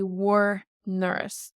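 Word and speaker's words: bhur ndoras: so you would say war nurse. Your guys' door. War nurse. So a D takes an N, and we don't hear the D anymore. War nurse.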